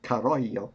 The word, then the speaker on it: Carollo: By the way, I want to say Carollo because I live in California, so I'll have to catch myself, but it's Italian, Italian pronunciation.